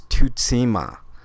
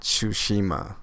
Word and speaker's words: Tsushima: pronouncing it correctly it's it's to tema not Tsushima as most people are calling it that is because su is the syllable tootsie ma its social its suzuna